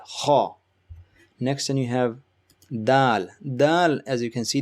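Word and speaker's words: دال: tip of your tongue touches the bottom of your upper teeth and gum. So where the bottom of your upper teeth and gum meet, that's where your tip of your tongue should be to pronounce this Da sound.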